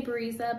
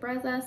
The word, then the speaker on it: Brezza: baby brezza formula pro i say breeza but i know a lot of people pronounce it brezza so that's how we're